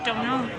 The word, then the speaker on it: Domhnall: I know it's spelled Domhnall, but it's say it fast as Domhnall. Domhnall. Okay, only two silent consonants in that particular Irish name?